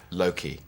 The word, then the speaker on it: Loki: How are you pronouncing your character's name? Loki.